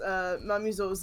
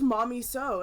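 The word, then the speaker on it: Mamizou: learn how to pronounce Mamizo's name. Mamizo, and my friend, when they told me, they're just like, say it's just Mommy So, and I legitimately believed that for the longest time.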